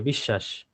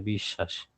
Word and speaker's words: বিশ্বাস: দেন আসেন যদি শব্দের মধ্যে থাকে বা শেষে থাকে, এখানে দুইটা আছে মানে শেষে, অশ্ব দুইবার উচ্চারণ হবে, বিশ্বাস দুইবার উচ্চারণ হচ্ছে, এবং খেয়াল করে দেখেন এগুলো সবই তালব্য শ দিয়ে, বিশ্বাস।